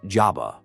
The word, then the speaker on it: Zaba: She used to tell us to behave, or the Zaba, I think it's spelled, pronounced Jabba, would get us.